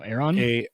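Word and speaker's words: Aeron: how to pronounce this how do you pronounce this company that's Aaron Aaron AE ro and used Aaron cherish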